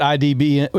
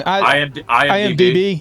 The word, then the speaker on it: IMDb: I just wanted to know if you updated that IDBM. Is it IDBM? How am I saying it wrong? IMDb.